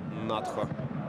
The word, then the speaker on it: Натхо: которые могли бы противостоять натхо и компании правильно кстати говорить нахо это Черкесская фамилия которая произносится с ударением на последний слог открывается здесь по правому